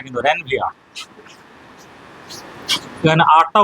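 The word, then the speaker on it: Ranvier: তো notes of র্যানভিয়া, notes, এনওডি, notes of র্যানভিয়ার বলবি না কিন্তু, র্যানভিয়া। এখানে আটটা উচ্চারণ হবে না, না বৃষ্টি আসতে দে, ঠিক আছে, ঠিক আছে।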